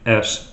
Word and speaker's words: (((S))): to cut to the chase why the name s surrounded by three parentheses I have forever pronounced it kind of like a rattlesnake how